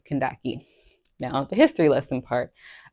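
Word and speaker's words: Kandake: spelling um and so that's where the pronunciation that my mom gives me or gave me which is Kashi but keep in mind the actual pronunciation is Kaki now the history lesson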